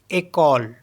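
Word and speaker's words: école: में हमारे पास ई सी ओ एल ई एक कॉल एक कॉल एक कॉल मींस होता है स्कूल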